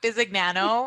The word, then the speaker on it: Bizzigiano: like it's very italiano it is but i just go with bizzy nano i know some people throw the italian like busy nano flare into